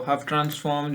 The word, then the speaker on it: Hough: तो हफ ट्रांसफॉर्म जो है वो साइलेंट हो गया।